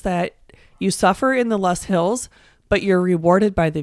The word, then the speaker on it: Loess: Luss Hills, which, fun fact, it's spelled Loess. That's right. How is it pronounced? I say Luss Hills.